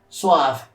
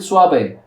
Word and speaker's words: suave: I really have a thing against saying suave, but I know that that's how you people pronounce it when you speak English. I would pronounce it suave, because that's how it's actually said in Spanish.